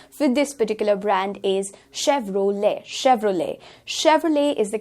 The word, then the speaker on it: Chevrolet: The correct pronunciation for this particular brand is Chevrolet is the correct brand.